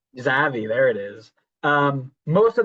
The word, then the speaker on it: Xavi: This stems directly from the fact that one Xavi, is that how you pronounce his name? That guy who's coaching for Brocalona somewhere in Spain. Oh, Zavi. Xavi, there it is.